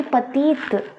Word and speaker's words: petite: एंड हो रहा है, तो इसमें इसकी साउंड आएगी पतीत, पतीत। तो यह साउंड हम इसकी साउंड प्रोनाउंस कर रहे हैं ना, पहले वाले में हम नहीं कर रहे पति और दूसरे वाले में हम कर रहे पतीत, यही डिफरेंस है।